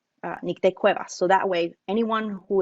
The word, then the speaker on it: Nicte Cuevas: be able to record your voice and say nick de cueva so that way anyone who is curious and